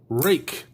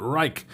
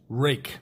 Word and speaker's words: Ruike: taking a look at the rake keep on wanting to call it rike p801-sf super cool little